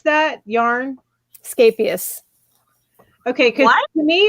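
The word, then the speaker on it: Scheepjes: Scapius. Okay, because What? to me it was cheap jazz. No, it's Scapius. It's Dutch, and Anya from Ophelia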